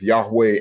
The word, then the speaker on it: Yahweh: I mean, you know, because I don't because there's only the switching out of the schwa and one of the other vowels. That's the difference between the pronunciation of Yahweh and Yahuwah.